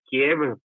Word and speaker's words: Kiev: Enviaron centenares de camiones y de blindados sobre la ciudad de Kiev, o sea, Kiev, es la pronunciación rusa de la capital de Ucrania, Kiev.